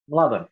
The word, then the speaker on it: Mladen: Mladen? Mladen, yes. Is with an M, like Mladen? Correct.